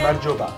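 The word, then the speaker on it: გამარჯობა: Gamarjoba. Amajoba.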